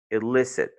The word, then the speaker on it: illicit: D'office, tu sais que tu ne peux pas dire I parce que tu dois utiliser le son court. Tu dis ill. Illicit.